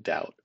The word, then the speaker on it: doubt: but this is silent B, because the B is silent in doubt.